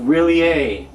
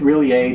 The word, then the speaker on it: R'lyeh: they call monster of really a now there are several different pronunciations people say really a in different ways when they say it at all and uh well i'm gonna go with really a just because that one